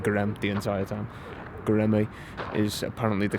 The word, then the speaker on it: Göreme: Göreme, I believe, is the correct pronunciation of it. I've been saying Görem the entire time. Göreme is apparently the correct one.